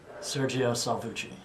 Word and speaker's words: Sergio Salvucci: you can say it for the video here sergio salvucci okay okay with the proper pronunciation good i'm hmm all right so let's